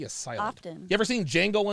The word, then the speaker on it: Django: science you ever seen django unchained yeah the d is silent like a jimbei oh